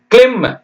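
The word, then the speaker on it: climb: எல் ஐ எம் பி இக் லி இம் இப் சொல்லக்கூடாது சரியா பி கிளிம் கிளிம்னா ஏறுறது மரத்து மேல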